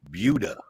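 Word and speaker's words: Buda: south of Austin and don't call it Buddha because they call it budha yeah oh that's like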